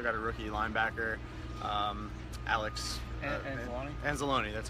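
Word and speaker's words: Anzalone: safety they also got a rookie linebacker Alex and Salone that's how you pronounce it yeah so they've they've got their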